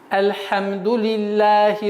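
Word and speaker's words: الحمد لله: целый аят как целостное слово одно слово и произносить на одном выдохе как альхамдулилляхи раббиль алямин и так как всевышний аллах ниспослал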